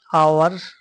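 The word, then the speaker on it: hour: H silent है और ओ से साउंड आ रहा है।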